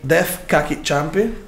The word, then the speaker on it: Deaf Kaki Chumpy: Dei Def Cacchi Ciampi. Correttissimo. Yeah. Ho scritto come si pronuncia di fianco apposta per essere sicuro di non sbagliare.